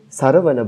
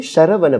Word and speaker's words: Sharavana: Now, maybe because of bhajans, I pronounce it as Sharavana Bhava Shri. Okay. She was really happy. She said, my God, you are saying Sanskrit. He said, correct. Okay. It's actually Sharavana Bhava Shri because in Tamil writing they don't have Sha.